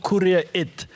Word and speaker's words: Kura It: And just so we say it right, it's called Kura It. Like send it, like make it happen, like win it, like move it.